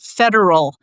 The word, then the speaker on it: Federal: I think you know very often people like to put the extra um syllable on a word and they think it sounds more formal or proper or something but in this case it changes the mean and meaning and federal is the word for the period which